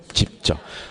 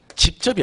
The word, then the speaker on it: 집적: 집적. 앞으로 제가 집적이라는 말을 정말 많이 쓸 건데 이거랑 구분하셔야 돼요. 집접이 아니에요. 집적이에요.